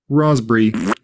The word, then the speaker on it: raspberry: Don't say the P in receipt, cupboard, raspberry, coup.